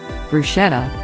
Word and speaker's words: bruschetta: Bruschetta, pronounced bruschetta, is an Italian appetizer or antipasti that starts with a base of toasted or rolled bread.